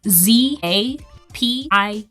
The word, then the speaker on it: Zapier: I know how to spell it. I don't know exactly how to say it. It's Zapier.